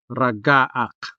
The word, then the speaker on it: ragaak: The first example we have here is ragaak, which means to creak, like wood creaking. Ragaak. The stress falls on the second syllable.